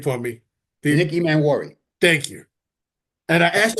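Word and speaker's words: Emmanwori: Nick Emanwari.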